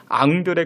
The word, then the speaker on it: 앙드레: 예수님의 제자 안드레 있죠 이 안드레가 그 프랑 발음으로 앙드레 그렇게 이야기합니다 근데 원래 이 김복남